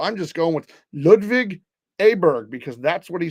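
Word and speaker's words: Åberg: uh tiger and ludvig aberer now he pronounces it aberer and he says that's the way you pronounce It in America where he's from and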